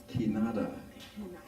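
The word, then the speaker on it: Kinara: This symbol, a 7-place candle holder, we call it Kinada. Kinada. Yeah, I know it's spelled with a K-I-N-A-R, but I'm told that the R sound is hard.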